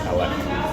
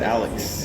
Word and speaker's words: Alex: My name the entire time was Alec. Because I refused to pronounce the X. Oh, yeah, because you have an XS sound to it, Alex.